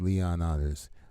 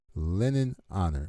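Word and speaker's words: Lenon Honor: is everybody who watched leon honors are how many people live in lake charles louisiana all right i don't know where leon honors uh linden okay let me say his name right from out of respect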